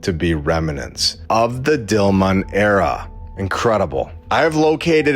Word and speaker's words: Dilmun: bliss which it locates at Dilan where we know they meant dilman because down here it's spelled correctly dilman now an island in